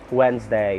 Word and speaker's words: Wednesday: the week so that's wednesday it's spelled as capital w e d n e s d a y wednesday silent d so in order not